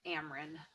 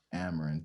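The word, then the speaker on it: Amryn: name correctly it looks really hard it's just ameren amaran thank you so much aaron i appreciate you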